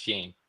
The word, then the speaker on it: Gene: I thought it was Johnny. He's like, no, it's Gene.